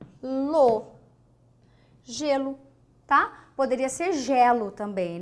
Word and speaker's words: gelo: G gato aqui J gelo é é a letra g mas onde que é o som J aqui ó não é aqui você não fala Guelo você fala Guelo Guelo não você fala gelo geladeira jarro tá esse